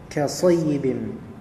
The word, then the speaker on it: كصيب: Di sini ada hamzah أو untuk حرف hamzah qat' atau ka sayyibin, bacanya sad bukan sin, berarti say sayyibin, sayyibim, ya, kemudian langsung di idghamkan kepada mim.